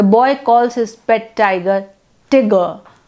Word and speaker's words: Tigger: calls his pet tiger tigger tigger t-i-g-e-r pronounced to rhyme with snigger which takes away all